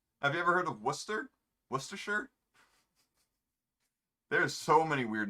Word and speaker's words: Worcester: the 1800s it's just worcester that's all it is worcester you don't pronounce the r whatsoever people say worchester so if you ever